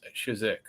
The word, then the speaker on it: Chizhik: have Orchard car back Eleanor turret and shizik as am I pronouncing that right that's right that's awesome